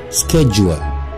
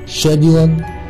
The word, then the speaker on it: schedule: نمبر 8 جدول بالامريكان سكيدجول، سكيدجول سكيدجول سكيدجول سكيدجول سكيدجول. اما بالبريتش ليها نطقين، يا اما تقولها شيدجول شيدجول او تقولها شيدجول، شج شجول شجول. يبقى بالامريكان سكيدجول، بالبريتش شيدجول او شجول، شجول.